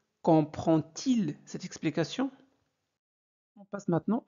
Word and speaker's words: comprend-il: Comprend-il cette explication? Alors, si le verbe se termine par D, alors ce D se prononce T.